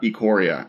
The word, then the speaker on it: Ikoria: today we're talking about a Coria is that choreo or acorrea do we know has there been a pronunciation acorrea okay it's Ecore yeah that's and there are